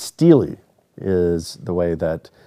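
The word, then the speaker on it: stele: saying saying i always thought he was saying stella and it wasn't until like months later when he finally corrected me he's like no stella is a beer he's like this it's steely is the way that it's pronounced uh you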